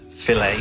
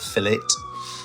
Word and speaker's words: Filet-O-Fish: As you can see there, the double filt filt is how it's said, not fillet.